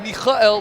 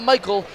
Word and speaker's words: Mikel: for informing us that Dixon's first name is pronounced Mikel not Michael like it is in the Tanakh thank you Rabbi Bixon